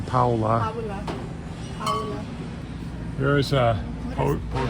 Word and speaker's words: Paola: They pronounce her name Paula.